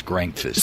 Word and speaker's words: Grankvist: Grankvist. Grankfist. It's not quite breakfast. It's Grankfist.